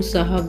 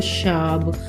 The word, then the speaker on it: साहब: रोश गुला ऐसे ही पहाड़ी लोग साहब को को शाब और सामान को सामान वो स को श का उच्चारण करते हैं और महाराष्ट्र के